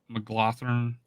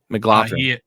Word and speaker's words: McGlothern: No, with and there, McGlothern, I think it's I forget how to pronounce his name, but I think it's McGlothern. McLaughlin.